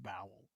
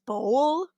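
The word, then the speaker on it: Bowell: I entirely think that's because of the last name Bowel. Yeah, I think it's actually pronounced bowl, but No, no, no, no, no, no.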